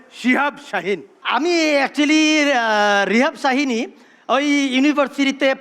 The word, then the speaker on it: শিহাব শাহিন: না বলেই উচ্চারণের সমস্যা এটা রিহাব শাহিন না এটা হবে শিহাব শাহিন আমি রিহাব শাহিনী ওই